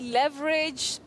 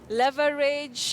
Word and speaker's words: leverage: That word has two acceptable pronunciations. We talk of alternative pronunciations. Right. You can say leverage, leverage, or you can say lever, or le, leverage or leverage. But Betty, we don't say beverage.